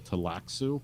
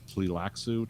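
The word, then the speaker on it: Tleilaxu: It's like they're called the Tlaxu or Tlilaxu, depending on how you pronounce it.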